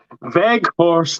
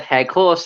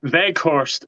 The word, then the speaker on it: Weghorst: So I thought like when you said Heghorst, then I thought that was like the traditional pronunciation of it, but no, you just got it wrong. Yeah, right. Rewind. Connor, Weghorst is an absolute handful for Burnley.